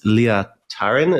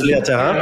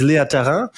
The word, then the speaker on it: Leah Tharin: Our guest today is Leah Tharin. Is that correct pronunciation? That is absolutely wrong. Is it Leah Tharin? Leah Tharin? It's not. Yeah, it's Leah Tharin. Okay, then our guest today is Leah Tharin.